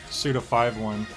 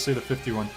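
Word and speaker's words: Suda51: that it should be suit of 5 one I really don't care how you say it either way but I'm just saying the man himself says suit of 51 but you're right F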